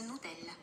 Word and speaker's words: Nutella: I know in Spain they say something like Nucilla, something like Nucilla. Oh. And in the States we go Nutella. Hey Siri, How do you say Nutella in Italian? In Italian, Nutella is Nutella.